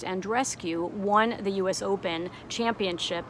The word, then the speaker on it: Andreescu: because Bianca, I believe her last name is pronounced Andreescu, won the US Open championship against Serena Williams.